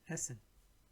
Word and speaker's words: essen: So whenever there are two consonants that comes next to each other, then you have to quickly pronounce it, not for a longer pronunciation, for a shorter pronunciation. Kommen, essen.